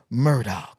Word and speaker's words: Murdaugh: Now, I got the blessing, the joy, and the honor to be joined with the one and the only Chris Murdaugh.